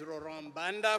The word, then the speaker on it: Laurent Mbanda: morning as we said my name is Lauren Banda from Rwanda and it rhymes very well so if you want